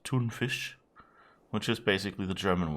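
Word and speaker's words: tonfisk: um i think actually oh in sweden is usually almost you isn't it like tuna fish is kind of spelt like t-o-n-f-i-s-k and i was very disappointed to hear that was just pronounced toonfish which is basically the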